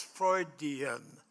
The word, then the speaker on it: Freudian: Yes, Freudian.